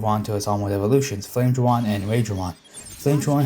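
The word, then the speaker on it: Flamedramon: Flame Dramon has a slight name change because in Japanese it's actually spelled without the ME in the name. So, its name is Flad Dramon or something, but how the Japanese people pronounce it, it sounds like he's saying Flame Dramon.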